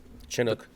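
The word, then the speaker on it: Chinook: Uh the Chinuk Chinuk Chinuk how do you pronounce the helicopter? Chinuk.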